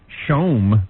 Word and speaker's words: CHOM: So we welcome Montreal 97.7 Chum, pronounced Shome. Shome. That's French. I am not pronouncing our station Shome. It is Chum.